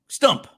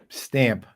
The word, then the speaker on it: Stump: Big shout out to Microsoft for sponsoring Stump the Godfather. Although some people try to say another word with that, Stamp. Stamp the Godfather? No. It rhymes with stomp.